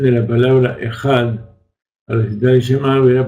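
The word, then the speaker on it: אחד: Entonces, aquel que se extiende en la Dalet Ejad, entonces prolonga sus días y sus años. Mas solo se acentúa la pronunciación de la Dalet, final de la palabra.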